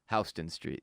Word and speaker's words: Houston: Houston Street. Houston Street. But do they say that about the city? No. They don't say the Houston Rockets? No. That'd be disrespectful. Yeah, they say Houston.